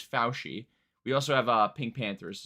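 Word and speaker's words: Fousheé: Apparently that's how it's pronounced. I was saying Fouché or Fouchi the entire time, but apparently it's Fauci.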